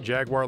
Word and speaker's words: Jaguar: one here Jaguar xj220 I pronounce it Jaguar like all other Americans and that's just the way we say it so get over it